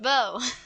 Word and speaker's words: Beau: Beau is pronounced Beau.